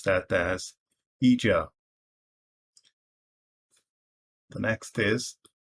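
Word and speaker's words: Ijaw: the third is i j a w i pronounce that as eja the next is u w a z u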